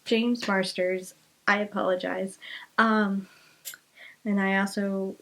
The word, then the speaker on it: James Marsters: Amy Garcia, Kevin Alejandro, James Marston again. James Marsters again. Why do I always mispronounce his name? I don't know. I adore him. I love him as Spike, and I adore him, and I always pronounce his name wrong. It's James Marsters.